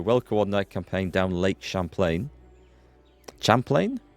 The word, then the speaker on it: Champlain: Champlain? Champlain? I think it's French pronounced, isn't it? From Canada.